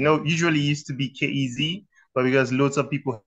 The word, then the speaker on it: Kirz: because how do you how do you pronounce your name so we pronounce it the right way it's kez kez okay so Cass is